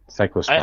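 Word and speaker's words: Cyclosporin: chlorospora or however the you pronounce it? Cycllosporin. Yeah, there you go. That's correct, Bren. Cycllosporin.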